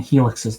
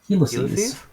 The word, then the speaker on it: helices: that could probably work i realize i've been saying helixes the whole time it's helices helices yes like owlies lc's